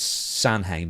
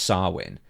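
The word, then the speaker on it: Samhain: this one out NWA I know it says sanhan but it's actually pronounced swin and I believe I any NWA show should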